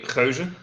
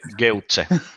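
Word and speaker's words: gueuze: If you really want to pronounce it properly, Geuze. I don't want to. Okay, everybody, all at once. Okie dokie. Well, there we go. That was nasty. In Finland, it would be Geutze.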